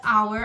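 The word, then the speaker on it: hour: né usamos nesse caso pois our apesar de iniciar com a consoante tenho são similar de uma vogal porque a gente não pronuncia ela né então transcrição fonética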